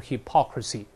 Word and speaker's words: hypocrisy: hypocritical。hypocritical，读成 hypocritical，但名词是 hypocrisy，注意重音啊，读熟了形成条件反射就好了。